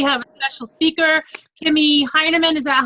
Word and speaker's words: Hinerman: Tonight we have a special speaker, Kimmie Hinerman. Is that how I pronounce that?